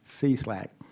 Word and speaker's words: SLAC: the stanford linear accelerator center center pronounced c-slack and national accelerator laboratory